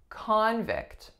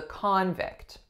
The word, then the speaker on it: convict: so that's a noun my winning syllable is the first the sound is aw the second syllable is a relaxed if sound vicked convict as a verb however if I said the prosecutor is going to convict him then we are putting our stress on the second syllable the sound that it makes is the same vicked however the first syllable no longer remained an AH but it actually reduced to schwa so we said couldn't